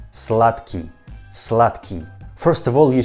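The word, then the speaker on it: сладкий: russian word slutky slutky you see that this word has a letter the slaad ki but i don't pronounce like the key i pronounce like slutky what i mean this word we pronounce like tu i mean slot key slot key and this word can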